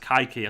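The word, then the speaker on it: Kaiky: see that live called cakey for brazilian play we'll make a cakey for keiki um i know it's pronounced kaiki or something like that but to me he's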